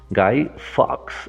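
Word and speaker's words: Guy Fawkes: you más bien listo se escribe gui se lee Guy Guy Fox F a w K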